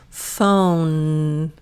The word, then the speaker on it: phone: Phone. Good. And for 9 in phone, if you look at the pronunciation, the E is silent.